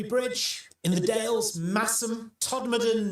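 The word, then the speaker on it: Todmorden: Some of the other popular ones, Sorby Bridge in the Dales, Massum, Toddan, not Todd Morton, and Nesbra.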